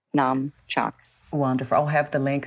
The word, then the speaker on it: Namchak: And Namchak is spelled N like Nancy, A-M like Mary, Chak, C-H-A-K, Namchak.